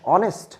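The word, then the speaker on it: honest: দেখো, প্রথমেই আমি একটা সেন্টেন্স লিখছি, শি ইজ ড্যাশ অনেস্ট। তো অনেস্টের আমরা শিখেছিলাম, যদি এইসের উচ্চারণ, গত ভিডিওতে দেখেছিলাম এইসের উচ্চারণ যদি অমিট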